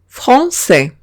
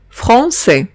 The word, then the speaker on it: français: Si veo una A y una I, o bien una E y una I, se pronuncian como una E española. Ejemplo, français. Français. Como vemos, tengo una A y una I que he pronunciado como una E.